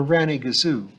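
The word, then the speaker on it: rannygazoo: "For Ranny Gazoo," said Ivy.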